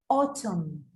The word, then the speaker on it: autumn: Autumn, autumn, autumn, autumn.